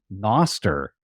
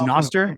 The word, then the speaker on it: Nostr: what is it like it's Noster is that how you pronounce it yeah uh like Nostradamus or probably Noster yeah that makes sense okay